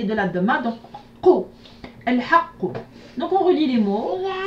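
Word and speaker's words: الحق: ça se prononce Al-Haqq. al-haqq.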